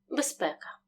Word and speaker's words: безпека: без якщо наприклад слово безпека ми вимовляємо досить повільно оглушення не буде з вимовляємо чітко без бека якщо вимовити слово швидше відбудеться оглушення з доси і в транскрипції буде безпека поговоримо тепер про особливості вимови